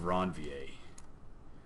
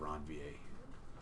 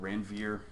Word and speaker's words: Ranvier: have different problems this is pronounced nodes of ranvier please PLEASE pronounce it nodes of ranvier right okay some people don't and you don't want to be one of those people anybody call it Ranveer thank you for being honest Ranveer ranvier yeah